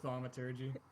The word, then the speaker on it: thaumaturgy: I kind of wanted to use like the thaumaturgy, like I forgot how to pronounce it, but you know. Oh, thaumaturgy.